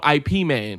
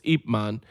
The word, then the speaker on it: Ip Man: who trained Bruce Lee yeah most people know Ip Man because that's how they pronounce it it's wrong it's apeman cuz that was his name thanks 1 2